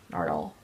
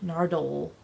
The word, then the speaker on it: Nardole: Nardole. Dole. Like Nardole. the pineapple company. Nardole. That's how it's spelled too. D-O-L-E.